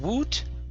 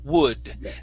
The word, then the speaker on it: would: would have to okay so instead of woot wood they would have to